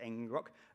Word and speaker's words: ngrok: app i can use something called ngrok i think it's pronounced engine rock um and it allows